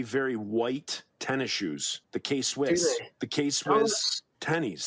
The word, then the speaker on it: K-Swiss: The K-Swiss. Do they? The K-Swiss tennies. That's Swiss. I had no idea. Swiss? Yeah. Okay, that's it. I always pronounce it K-Spice, but I didn't make the connection.